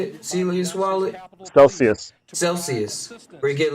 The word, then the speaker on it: Celsius: I signed up for that Celius. Is that how you say it? Celius wallet. Celsius.